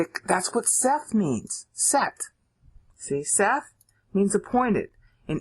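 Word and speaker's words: שת: that's what Seth means set see Seth means appointed in English it comes it's pronounced set okay and there are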